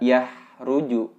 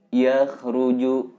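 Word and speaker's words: يخرج: Itu kho sukun, bukan ha. Jadi bacanya tidak yahruju, tapi yakhruju. Nah, itu yang pertama.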